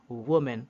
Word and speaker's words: woman: that o this is woman the singular the singular sounds like wo woman woman like in book as in foot foot this is the singular